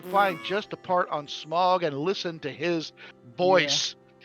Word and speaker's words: Smaug: you pronounce it, and somebody will say it's Smaug. I said no. When Benedict Cumberbatch plays it, you can call it Smaug. When Richard Boone voices him, it's fucking Smog.